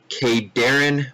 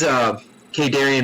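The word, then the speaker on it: Khaydarin: cannons, shield batteries, and Kadarin monoliths. Yes, I looked up the name. I'm almost positive, pretty darn positive, 99% sure that's how you pronounce it.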